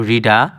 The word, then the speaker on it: রিটা: দেখো এখানে রিটা না কিন্তু রিডা। রিডা হবে উচ্চারণ।